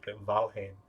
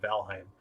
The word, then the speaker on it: Valheim: like valheim uh and if you're wondering why i'm pronouncing that way i watched an interview with the two developers of the game and then valhane on instead of valheim uh and they also